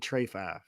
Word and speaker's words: Trey 5: You gotta say KD Trey 5. That makes fun. That's how they that's how they say it in DC.